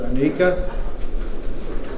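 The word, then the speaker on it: Ineka: Now we have a lady celebrating 7 years of continuous sobriety, and I believe her name is pronounced Anika.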